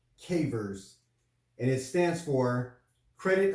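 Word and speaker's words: CAIVRS: so today what i found was something called cavers so it's spelled or i guess the acronym is uh spelled c-a-i-d-r-s and it's pronounced cavers and it stands for credit alert interactive reporting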